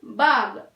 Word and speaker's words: बाघ: भाग का मतलब है चिल्ड्रन भागना, और भाग का मतलब है टाइगर भी कहते हैं। तो बाघ हमें प्रोनाउंसिएशन कैसे करना है? देखिए, नॉट भाग, भाग, ओनली बाग, बाग।